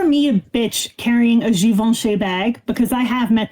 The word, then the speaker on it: Givenchy: It's French. It's spelled Givenchy. Audrey Hepburn used to be the face of Givenchy. It's fucking classy shit. It's Givenchy. Givenchy.